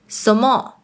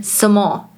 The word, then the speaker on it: 什麼: Another one is 什麼 (what), 什麼 is often pronounced as “somo” or “semo" The next one is 誰.